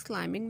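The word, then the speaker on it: climbing: Silent letter में हमारे पास है, सना इज क्लाइंबिंग द माउंटेन्स।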